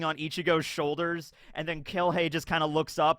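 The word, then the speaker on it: Kirge: This is, I think his name is pronounced Kilhei Opie. Not Kurhei, but Kilhei, which is kind of appropriate given his attitude.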